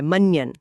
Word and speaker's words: मन्यन: मनन यहां अ य का प्रयोग है जो नाक से बोला जाता है। मन्यन।